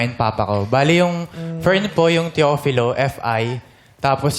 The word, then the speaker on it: Firne: Fern po.